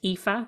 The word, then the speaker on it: Aoife: to spell my name it's spelled a o i f e and it's pronounced epha and my surname is